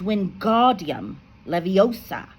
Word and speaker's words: Wingardium Leviosa: It's when guardium leviosa make the gar nice and long.